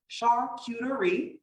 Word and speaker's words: charcuterie: All right, so family, again, why charcuterie board? I heard it said many times, charcuterie. Charcuterie is how I've learned to pronounce it.